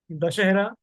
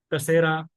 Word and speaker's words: दशहरा: उत्तर भारत में दशहरा के हिसाब से, दक्षिण भारत में दशहरा। तो उच्चारण थोड़ा सा फर्क हो जाता है।